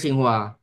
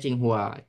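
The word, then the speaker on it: Tsinghua: Kominfo sekarang Komdi itu Singhua eh Singhua dibacanya Chinghua, Chingua University.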